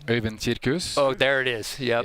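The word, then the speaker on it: Øyvind Kirkhus: Can you give us the proper pronunciation? Øyvind Cirkus.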